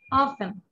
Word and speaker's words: often: Very অফেন অফেন ও এফ টি এন টি উচ্চারণটা হবে না অফেন Often.